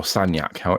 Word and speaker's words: Sagnac: The Sagnac experiment, or Sagnac, if you want to pronounce it the way that the French say it, it's not easy to